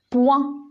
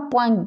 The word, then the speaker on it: point: lettre lui est jeudi outils points je dis pas pointe des points ibou hibou donc